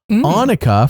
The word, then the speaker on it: Anuka: Sam is mad at anuka which by the way I was told is like Hanukkah so Hanukah Hanukkah C I'm on point with how to say her name anuka for wanting too much